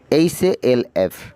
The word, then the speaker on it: half: টক, TALK, টক, এখানেও এল এর উচ্চারণ হবে না, এলটা উজ্জ্ব থাকবে, সাইলেন্স থাকবে। হাফ, HALF, হাফ, HALF, হাফ।